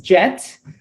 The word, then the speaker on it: GET: throughout this presentation as jet yes that is g pronounced as jet the plane uh well first and